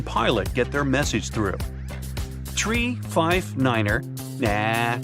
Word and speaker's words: tree: in their pilot English tree stands for three five for five and ner is used instead of nine such pronunciation helps to